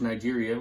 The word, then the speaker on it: Niger: Look up, there's Nigeria, where Izzy's from.